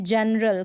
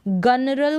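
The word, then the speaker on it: general: यहाँ पर भी हम इसको गनरल करके नहीं पढ़ेंगे, तो जी को यहाँ पर प्रोनाउंस किया जा रहा है ज।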